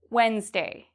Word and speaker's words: Wednesday: Wednesday. Am I pronouncing the D in this? Wednesday. No. I do not pronounce the D.